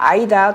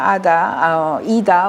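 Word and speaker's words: Ida: 덴마크 국회의원이에요 아다 오큰입니다 아이다 또는 아다이다 뭐 이렇게 발음하는데 아니다 오크니 당신은 소유하지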